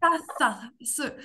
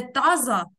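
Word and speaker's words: taza: Тільки не з, а це с. Таса. Оце, оце. These, those, як в англійській мові. З. Не таза, а таса.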